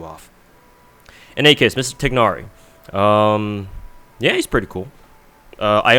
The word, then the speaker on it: Tighnari: Tighnari, I call him Tighnari, so I pronounce the G. I'm pretty sure you're not supposed to, but I got stuck doing that.